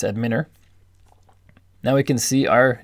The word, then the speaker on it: Adminer: But if you click on Database and then click on Adminer, that could also be pronounced Adminer, but I'm going to say it's Adminer.